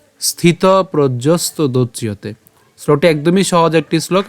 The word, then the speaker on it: প্রজ্ঞস্ত: এরপর বাথমনা আত্মন ইয়ে বাত্মনা তুষ্ট এরপর স্থিত প্রজ্যস্ত স্থিত প্রজ্যস্ত স্থিত প্রজ্যস্ত এখানে আমরা উচ্চারণটা কেমন হচ্ছে প্রজ প রফলা বর্গিয়াজ হসন্ত